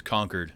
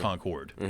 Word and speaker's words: Concord: is you're saying that the official pronunciation is conquered and not Concord so what would be